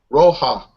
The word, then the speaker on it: Roja: I'm not exactly sure how you pronounce that. Roja? Roja. Roma? Roja. Roma. Roja. Roja. Roja. Yeah. Like red. Means like reddish, you know, like reddish. A reddish beer.